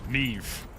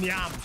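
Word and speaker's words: Niamh: like Aisling and Neve. You know, they're Irish names. And people just don't know how to pronounce them. People call them Nyam. Nyam. Like, bro, no.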